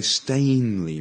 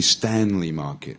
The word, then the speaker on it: Stanley: yeah how about this I've heard people a lot of people say stainely Market yeah a stain is when you make a mark on your on your dress or something like that it's really Stanley market yeah it's Danny Stanley